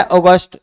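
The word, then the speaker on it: August: लोक है इनके लिए ये है अगस्ट ए यू जी यू एस टी तो देखो जी से पहले ही ओ ओ की साउंड आ रही ओ की साउंड आ रही ओ और जी यू साइलेंटली सेकंड पैलेस प यू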